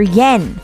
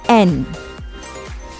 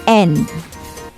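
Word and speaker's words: 円: would be rupiah in japan you have their yen but you pronounce the yen as n again that's n let's highlight on nihon that's japan again the currency is n in connection to that let's discover and examine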